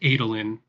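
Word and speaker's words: Adolin: we feeling guys uh first of all it's pronounced adelin maybe you should read some Stormlight Archives okay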